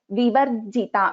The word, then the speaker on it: Vivarjita: So if you see here, Vivarjita, we are pronouncing the Repa first, right? So Bhava Bhava Vivarjita. So here the Dvitvam is happening on Ja in Vivarjita.